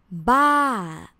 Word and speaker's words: บ้า: the word it's crazy in thai is ba with the falling tone and you can use